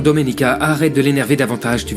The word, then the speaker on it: Domenica: Tu as du mal à prononcer mon prénom. C'est Doménica. Non, Dominica, arrête de l'énerver davantage, tu veux ?